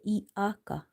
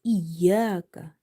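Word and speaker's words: إياك: This is iaka. Iaka. The word is iyaka. Iyaka. You have to pronounce ya here, not alif sound.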